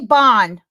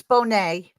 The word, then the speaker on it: Bonne': No, he said Bonne, but it's Bonne. Okay. But it's all good. He was reading off a list. He butchered Jim Caviezel's name that night too. So I don't feel bad at all. No, but I just got. Sometimes they call me Bone, because it's Bonne like Monet if you have the